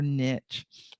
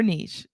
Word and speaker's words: niche: It is a way of positioning yourself as the go-to expert in your niche or niche, depending on how you say it.